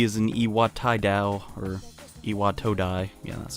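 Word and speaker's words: Iwatodai: he was he is an iwat da or IAT toai yeah that's how you say it station and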